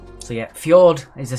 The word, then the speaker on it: fjord: is an english word so again fjord has a silent j but it's not an english word number two which is